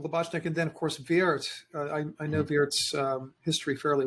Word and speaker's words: Wirth: It's W-I-R-T-H. We'd say in English, of course, it's Wirth or Wirth. Sometimes people pronounce it Wirth, but in German it's Wirth, and the W is pronounced like a V, and I-R-T-H, Wirth.